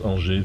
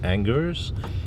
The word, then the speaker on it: Angers: Well, you pronounce Angers very well, you know. But Thank you. Because most English-speaking people would say Angers.